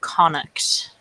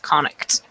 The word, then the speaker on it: Connacht: It was a daughter who was going to be married to the Prince of Connacht.